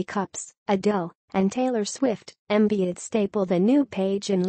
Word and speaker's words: Embiid: Los Angeles it rhymes with indeed or friend in need the NBA has enough under twenty five stars to fill up several red carpets maybe the lead can loan Joel embiid to the NFL or